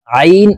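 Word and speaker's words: ع: জ নুন জবর না আইন আলিফ জবর আ চাপ দিয়ে উচ্চারণ করব কারণ আইন হরফের মাখরাজ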